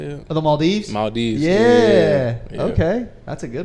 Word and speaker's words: Maldives: to say that uh ideal vacation um the ma dolls I think that's how you say it or the Maldives Maldives yeah okay that's a good one yeah I